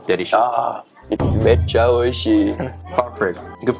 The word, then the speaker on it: めっちゃ美味しい: Ah, mecha oishii. Perfect. Good pronunciation.